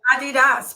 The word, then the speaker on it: Adidas: So, and you're right, it's Adidas, because there was also something that came to say it is a term.